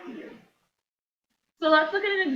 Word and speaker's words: mu: This we call mu. How to pronounce? MU. Mu.